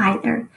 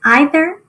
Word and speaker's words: either: 20 is either or either. You may sit at either or either end of the table. There are two ways people pronounce that word, either or either, but they're spelled the same.